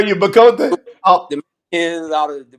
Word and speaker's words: Bacote: Yeah, my family's originally from the East Coast. They say Bakot. When I'm Bacote. west, it's Bacote. It's Bacote.